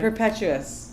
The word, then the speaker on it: Perpetuus: about Perpetuus. Am I pronouncing that name right? Perpetuus.